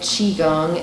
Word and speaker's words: Qigong: I think Qigong, and like the Gong is the same as like Kung Fu is hard work. It's that Gong is the same, it's just it's different dialectical pronunciation.